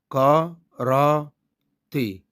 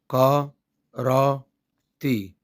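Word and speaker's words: 空手: أنطق بقى الكلمة على بعضها: كا را تي. نقولها تاني: كا را تي.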